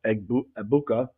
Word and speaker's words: Egbuka: So let's start at the top with Emeka Egbuka. The G is silent, we're told.